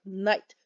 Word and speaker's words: knight: c3 that's a n even though in english we spell it k-n-i-g-h-t for knight we use an end because the k is taken by yes you got it the king anyway all right let's